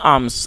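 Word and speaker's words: alms: देखिए people give them आर्म्स और दोस्तों ए एल एम एस इसमें एल साइलेंट है तो आप इसमें एल नहीं पढ़ेंगे इसे आर्म्स पढ़ा जाएगा जिसका मतलब होता है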